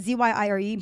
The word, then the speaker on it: Zyiiree: So, but yeah, the way I found out actually that my name is pronounced from my mother and father, that is pronounced Zyiiree. It's not Zyiiree. And I was like, 22 years and I've been lied to. Zyiiree. But, yeah, it's just Zyiiree. But my Instagram name is, I pronounce it as like Zyiiree, but I don't care. You can pronounce it Zyiiree, you can pronounce it Zyiiree, you can call me.